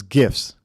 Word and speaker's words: GIF: So, it's gifs. Hard G like as in guttural.